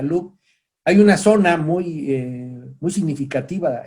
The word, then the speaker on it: Louvre: museo del louvre pues como se escribe pero se pronuncia loop hay una zona muy